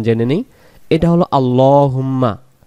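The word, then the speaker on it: اللَّهُمَّ: এটা হলো আল্লাহুম্মা। আল্লাহ শব্দের ডান দিকে যখন জবর হয়, আল্লাহ শব্দের লামটাকে ল এমন করে পড়তে হবে।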